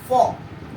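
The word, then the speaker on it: folk: तो ये फोक है, न कि फोल्क है।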